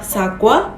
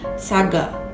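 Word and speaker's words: 사과: Contoh lainnya seperti pengucapan kata apel yang seharusnya sagwa menjadi saga.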